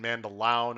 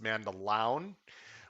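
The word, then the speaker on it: Mandaloun: little disappointed by that or is it mandalon i believe it's pronounced man the lounge mandolin is being pointed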